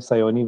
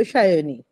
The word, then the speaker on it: Sayoni: whole publishing side of things so we have sayi with us and am I saying it right am I saying it wrong well uh I'm a bong so we sure things sh it's a sh so shyi but we also assume the rest of the